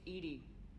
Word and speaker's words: EDI: why are you named ed ed is the phonetic pronunciation of ed I that is an acronym for enhanced defense intelligence what do you do